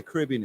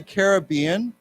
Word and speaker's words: Caribbean: you know where the Caribbean is right it's an ocean uh some people say yeah some people say Caribbean and some people say Caribbean and either way is okay so why don't we